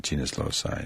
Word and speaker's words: genius loci: Is that how you pronounce it? Correct. Yeah, genius loci, the spirit of the place.